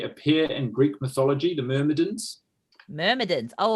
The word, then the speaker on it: Myrmidon: Myrmidon. Myrmidon. Din or dum? Dim.